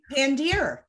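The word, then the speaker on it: Pandere: And then there's also a company, and I know I'm going to say it wrong, so I'm just going to spell it, but it's P-A-N-D-E-R-E. Pandeer.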